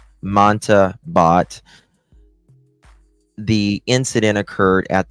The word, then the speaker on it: Mamta: On or about July 30th, the accused Naresh Bhatt unalived his wife, Mamat. I say it wrong every single time. Mamta Bhatt.